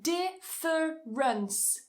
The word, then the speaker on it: difference: Difference, difference. Cut a syllable.